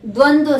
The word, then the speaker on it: द्वंद्व: और तत्पुरुष समास, बहुव्रीहि समास, और ये द्वंद्व समास। क्या है? द व फिर द व, द्वंद्व।